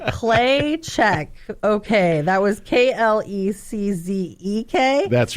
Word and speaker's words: Kleczek: And Kleczek is spelled just like it sounds, Kleczek. Just how it sounds. I was like, Kleczek. Okay, that was Klezzek.